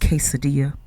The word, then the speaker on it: quesadilla: that uh gule what What's gule when it's guacamole mhm asking stuff like uh what's a a quidilla when it's pronounced quesadilla or a tortilla when it's a tortilla mhm and see here's